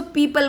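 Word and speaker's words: people: बच्चों इसको पीपल बोला करो, जैसे पीपल के पेड़ को बोलते हो ना आप, सेम प्रोनाउंसिएशन है इसका।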